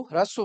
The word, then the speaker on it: ह्रस्व: ह्रस्व नहीं बोलते हैं उसको, ह्रस्व बोलते हैं।